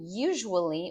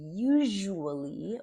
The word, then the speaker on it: usually: Watch the pronunciation. Everyone, but almost everyone, just not you, says this incorrectly. On Fridays, I usually order sushi after work.